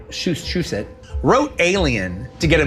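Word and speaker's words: Shusett: Dan O Bannon and I think Ron Shushet, that's the way you pronounce it. Shush it wrote Alien to get a movie going with Corman.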